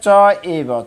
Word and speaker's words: চৈব: শুনি, এই শব্দটি হবে চ এব, চৈব ভাঙালে চ এব। স্বপাকে চ পণ্ডিতাঃ, হয়ের হালকা হ উচ্চারণ হবে, পূর্ণ হ না। সমদর্শিনঃ রে পাশে। তো এই শব্দ, এই শ্লোকে তেমন কোনো জটিলতা নেই উচ্চারণের। এই শুধু একটা চ এব, আমরা চৈব বললে হবে, কিন্তু যদি সংস্কৃত ভাঙানো হয় চ এব হয়।